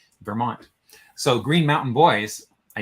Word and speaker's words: Vermont: Ver, like I bet there are no Slovenians who Bert, know but you that. pronounce it Ver. And then Mont is the word for mountain. So Green Mountain is Vermont.